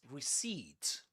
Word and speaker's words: receipt: You don't say receipt. Receipt. And this is not pronounced as a. This is e. Receed. So in a way you can pretend this is spelled like this.